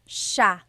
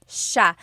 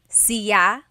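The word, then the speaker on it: siya: It's sha sha. The s iy combination makes the sha sound in tagalog. Some regions say sya but in the Luzon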